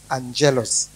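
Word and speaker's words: ἄγγελος: Neno malaika linatokana na neno la kiyunani agelos au angelos a g e l vile vile linaitwa jina hilo linatamkwa pia linatajwa pia katika nani angelos a n g e l o s angelos sasa kutokana na neno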